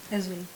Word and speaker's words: Ezeulu: Pronounce it for me. Ezulu.